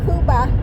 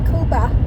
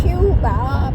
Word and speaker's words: Cuba: Cuba, actually pronounced Cuba. I don't know why they call it Cuba, but it's Cuba.